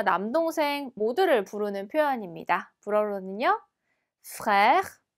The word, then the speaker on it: frère: frère. 네, 그래서 이 단어는 지금 에르가 2번 들어가 있어서 발음하시기 조금 까다로울 수 있어요. 에르 발음에 유의하시면서 한번 다시 읽어볼게요. frère.